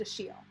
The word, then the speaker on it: Achilles: is spelled as if it's achilles but it's pronounced a shiel and they get it right in the first